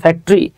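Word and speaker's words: factory: যত টরি আছে বুঝছেন টরি গুলোর উচ্চারণ হয় ট্রি ওটা সাইলেন্ট থাকে আমরা ফ্যাক্টরি বলি উচ্চারণ হচ্ছে ফ্যাক্টরি যেমন আমরা হিস্টরি বলি উচ্চারণ হচ্ছে হিস্ট্রি আচ্ছা তাহলে দেখেন চা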